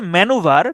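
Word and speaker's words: manoeuvre: এটা হচ্ছে ম্যানুভার, উচ্চারণটা হচ্ছে ম্যানুভার, কিন্তু এটা দুইটা বানান হয়, একটা হচ্ছে এইটা আর একটা হচ্ছে এইটা।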